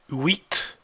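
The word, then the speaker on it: huit: with crayon be careful this age you don't pronounce it that's why it's called a mute age ash mill wheat crayon then again nerve death nine oxen nerve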